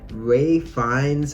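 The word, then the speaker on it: Ralph Fiennes: Ray Fiennes, I think that's how you say his name, Voldemort, is fucking phenomenal in this movie.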